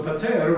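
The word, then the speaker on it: πάτερ: And notice we learned it as patir, and here it is pater. We have a difference in vowel at the end. That's because this is actually a case of address. So we're talking to God, so it changes the word just a little bit.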